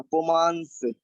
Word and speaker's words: पुमांस: पुमांस, पुमान पुमान, और इसमें सा लगा हुआ है पुमांस, इसमें ना आधा उच्चारण होगा, पुमांस।